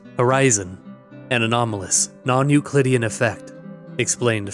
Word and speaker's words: Horyzon: Footnote: pronounced Horyzon, an anomalous, non-Euclidean effect, explained further into the article, which prevents almost any light from reaching the ground.